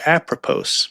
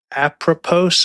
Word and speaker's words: apropos: And apropos, I keep saying it wrong. It's actually a French word called a propos. Or a a propos. Sorry, I I do not speak French.